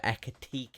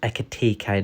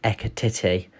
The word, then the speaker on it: Ekitike: that there's been some movement on the hugo echo tk that is correct it's pronounced echo tk not echo titty as uh lee would say that is not